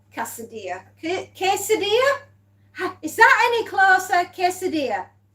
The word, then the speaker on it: quesadilla: Quesadilla.